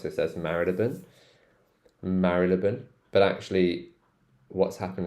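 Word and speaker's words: Marylebone: it the oldfashioned way so I say marilan marilan but actually you will hear l a lot of londoners like most londoners would say Marley Bone I don't like Marley Bone so I pronounce this one as Maron Maron this one's interesting this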